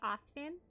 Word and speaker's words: often: Dahlia, can you say often? Okay. Often. Why? What am I saying often for? Did I win something? Oh, hello. What a terrifying attack. So Americans say it with the T.